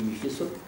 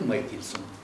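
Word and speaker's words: Michelson: Пишется он по-нашему по-русски, на самом деле, не Майкельсон, а Михельсон, его фамилия Михельсон. Значит, польский еврей, но по-американски, по-английски, значит, он произносится как Майкельсон.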